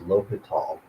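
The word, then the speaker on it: L'Hôpital: Sometimes lowal is spelled with an s but it's pronounced lial.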